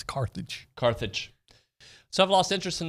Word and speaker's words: Carthage: It's not Carthage, even though my mother used to pronounce it that way. It's Carthage.